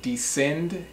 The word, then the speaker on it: descend: Also, there's another word, descend, D-E-S-C-E-N-D. It's not descend, it's descend.